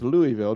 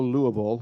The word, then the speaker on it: Louisville: I may ask Louisville ah okay and it's pronounced Louisville don't don't go Louisville or whatever well I appreciate it that's no